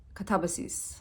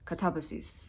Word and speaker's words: katabasis: So, if you wanted to be pedantic about it, the proper pronunciation of this is katabasis. That's is that is pretty much I'm pretty certain how you pronounce it in Greek. Katabasis.